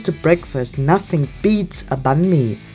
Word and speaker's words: bánh mì: The only downside, it's one of the most mispronounced Vietnamese words by foreigners. Bánh mì, bánh mì, bánh mì. And I don't like that they say bang me.